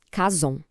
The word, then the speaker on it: Chazown: A pronúncia é meio assim, Kazon.